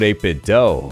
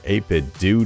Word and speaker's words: 8BitDo: here we're talking about 8-bit dough or 8-bit do depending on how you want to pronounce it 8-bit dough has a